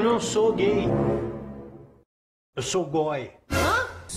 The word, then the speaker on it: g0y: Mãe, eu não sou gay, eu sou goi. Hã? A palavra goi se escreve com G, o número zero e o Y.